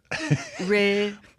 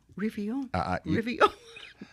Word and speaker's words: Réveillon: But we had fun listening to the French pronunciation. Réveillon. Réveillon.